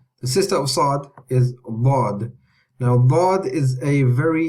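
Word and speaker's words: ض: Okay, so the way we pronounce Dad is we use the back end of the tongue. Okay, so we use the back end of the tongue touches the gums of the upper back teeth, either the left or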